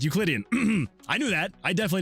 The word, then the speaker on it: Euclidean: That's how you pronounce it. It is Euclidean.